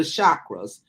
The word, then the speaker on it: chakra: great so when you talk about uh the chakras and I think you spell it uh s-a-c-a for you c-h-a-k-r-a-c as in